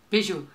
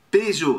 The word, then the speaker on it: Peugeot: Peugeot. Peugeot. Alors, é a mesma coisa, não, é, é Renault, não, é, não, é Peugeot e Peugeot.